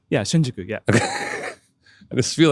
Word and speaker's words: Shinjuku: I'm like kind of doing it correctly yeah Shinjuku yeah I just feel like you know I'm proud that I'm getting the pronunciation but when I think of Japan I